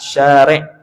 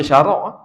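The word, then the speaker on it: شارع: yang lima di berat syarik syarik ni pensyariat syarik tu bahasa Arab tu dia pensyariat bukan baca syarak syarak tak kena tu dia ada Alif jadi bacanya Syari sembahyang yang lima diberati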